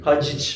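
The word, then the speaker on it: Hadžić: kadarıyla ha şeydir böyle hacı hacı gibidir haciç ha gibi aynen bu zaten Z J diye okunuyor üstünde şey var diye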